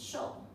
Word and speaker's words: 受: Next is shou. Shi, o, shou. Okay. Show.